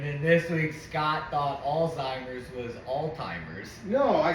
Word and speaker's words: Alzheimer's: you you said oldtimers altimer altimer like they're all time NBA no like altimer it's Alzheimer's with a Z yeah pronoun how do you pronounce it alltimers it's all but you say it quick Alzheimer's that's what I